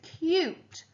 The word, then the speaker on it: cute: The opposite of ugly is cute. Cute. The magic E turns the into the U sound. Without it, you'd have the word cut.